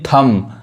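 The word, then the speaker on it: thumb: क्या पढ़ेंगे क्लाइम चढ़ना यहां देखिए थम थंब नहीं थम समझ में आ रहा है य बी नहीं बढ़ाएगा अंगूठा यहां देखिए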